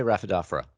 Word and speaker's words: Rhaphidophora: How do you say it? I say Rhaphidophora.